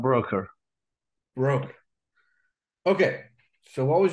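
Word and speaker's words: Broeker: It's either Broker or Brooker or We knew him as Pat Broker.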